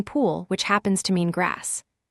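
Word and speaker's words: 풀: The third is p plus u plus a final l. U is flat so it goes under the p and the l sits on the bottom giving pool which happens to mean grass.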